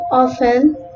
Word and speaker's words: often: Letter T is almost silent in words with FTEN, STEN, and STLE, as in often, soften, listen, glisten, castle, and whistle.